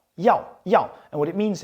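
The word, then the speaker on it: 要: It's pronounced yao. Yao.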